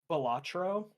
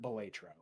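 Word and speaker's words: Balatro: It can be pronounced both ways. The creator pronounces it um Batro. Uh I pronounce it Betro.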